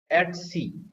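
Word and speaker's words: etc: इसम ए होता है ए बोलते भाई टीसी नहीं बोलते इट is being pronounced S एट सी right एट सी इसमें क्या जाएगा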